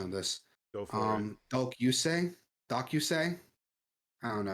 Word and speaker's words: Dōkyūsei: Dōkyūsei, Dōkyūsei. I don't know how to pronounce it. Dōkyūsei.